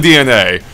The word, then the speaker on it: DeNA: games and not uh DNA, which I realized that now I mispronounced before. Yeah, I guess I have been too. It looked like Dena to me. Yeah, that's what it looked to me. Yeah. Yeah. But yeah, apparently DNA.